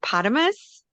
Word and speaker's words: potamus: Do you pronounce it potamus? Yes, like hippopotamus.